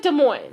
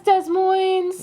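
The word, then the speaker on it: Des Moines: from which is the Des Mo that's the Des Mo you pronounce it de Mo okay every musician or band that come here say thanks for having us Des Moes yeah I know we're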